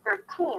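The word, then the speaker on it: thirteen: Because in the first word, we have 13. It's the strong aspirated T because it's at the beginning of the stressed syllable.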